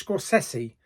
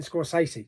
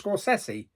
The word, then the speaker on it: Scorsese: to correct that because actually his name is Scorsese. Yeah, I didn't know that. How many years have we been going by saying Martin Scorsese? Yeah, I found out a couple of days ago. It's actually pronounced Scorsese.